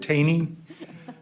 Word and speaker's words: Taney: many times it's Taney rhymes with Rainey and I live at